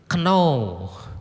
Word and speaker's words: know: Know, apa know? K-nya tidak boleh dibaca.